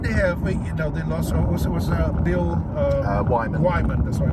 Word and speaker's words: Wyman: I sometimes struggle with the pronunciation of the surname. That's why Wyman.